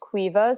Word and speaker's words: Caoimhe: So my actual name is an Irish name, and it's spelled Caoimhe, but it's pronounced Queeva.